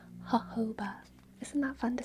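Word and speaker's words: jojoba: It's pronounced hoba. Isn't that fun to say? Hoba.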